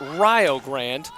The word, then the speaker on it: Rio Grande: on Twitter I realize it is called Rio not Rio like the river in Texas but Rio Grande like rhyming with Ohio oh speaking of Rio